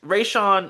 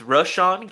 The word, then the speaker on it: Rashan: So, and it just got me thinking, okay, cuz Ray Sean, excuse me, I'm not even going to say his name. It's it's it's Rashan Gary.